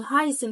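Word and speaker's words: heißen: قواعد النطق بتاعتي طب ركزت كمان انه هايسن فيها الاي اي هاي هايسن هاي هايسن يبقى كده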